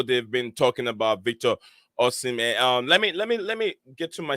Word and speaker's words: Osimhen: Yeah, it is Victor Osimhen. Osimhen.